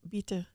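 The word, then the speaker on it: ביטחון: So, Rabbi, it's the bitachon?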